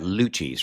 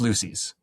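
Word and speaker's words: Luci's: His new album, it's Live at Luchi's, right? Not Lucy's. Oh, it's Lucy's. Oh, it's Lucy's. I said it wrong first.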